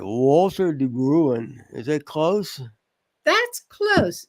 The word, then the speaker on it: de Bruin: I guess if I got this right, Walter de Bruin. Is that close? That's close. It's it's Dutch, so it's it's hard to pronounce. I kept looking up the pronunciation.